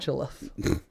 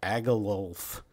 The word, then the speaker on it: Agilulf: Agilulf. Agilulf. He definitely won't get. I'm glad you pronounced it, because I was gonna go with like Agalulf.